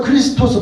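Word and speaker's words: Χριστός: 그래서 크리스토스, 발음은 크리스토스인데 이건 크라이스트가 됐어요.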